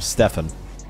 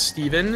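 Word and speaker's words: Stephen: You should know as an American, when it's S-T-E-P-H-E-N, that it's... Okay, but think about it, though. Like, the most famous person with the spelling of that name pronounces it Stefan. I wonder if more pronounce it Steven or Stefan. I think it's Stefan now.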